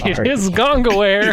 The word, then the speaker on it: Gongaware: Catherine Gongaware. Gongaware? Gongaware. How do you spell that? Gongaware. It is Gongaware.